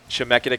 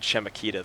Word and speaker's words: Chemeketa: We apologize to anyone at Chemeketa. Yep. Chemeketa Community College. Our apologies for pronouncing it Chemeketa this entire time.